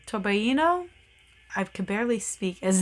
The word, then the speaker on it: torbellino: I took Italian so I always want to pronounce this sweater torbellino and uh it's not that because it's got the Double L which I know does not make an English l sound um so I don't